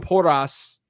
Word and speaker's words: Porras: Edwin Porras, the Dr. Edwin Porras, and I very poorly roll my tongue, but that's how he pronounces his name.